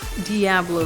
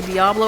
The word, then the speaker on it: Diablo: I'm gonna say Diablo and then I'll say Diablo because the dude says Diablo in the opening cutscene, and I think that's funny because I've always pronounced it Diablo. So I'm sorry if you pronounce it Diablo, but I do speak some Spanish, and they do pronounce it Diablo in Spanish.